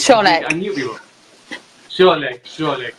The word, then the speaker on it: Wszolek: Is it Szolek? Is it a silent W or? It's Wszolek.